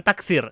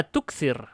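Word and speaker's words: تكثر: La, bukan takthir. Salah itu ya. La tukthir.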